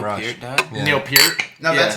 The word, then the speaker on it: Peart: raise our glasses to Ooh, I Neil like Peart. that. Yeah. Yes. Yeah. Yes. Fuck yes. Dude, good call. Wait, Neil Peart died from Neil Rush. Peart died? Yeah. Neil Peart.